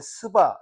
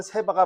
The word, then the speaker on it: 세바: 열왕상 10장에 보면은 우리는 시바의 여왕이라 그러는데 뭐 개혁성인 스바 스바 여왕이라 그러고 제가 갖고 있는 또 개혁성은 세바라 그랬는데 정확한 발음은 세바가 맞아요.